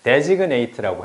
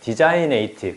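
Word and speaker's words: designate: 보이냐면 여기에서 아 그리고 발음은 제발 데그네이트라고 해 주세요. 디자인에이트 그렇게 하지 않도록 아시겠죠? 그런 단어는 없으니까 여기서 보면 이렇게 딱 사인에만 딱 줘 보세요.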